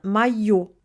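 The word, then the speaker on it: моё: Moj plus O du neutre devient mayo.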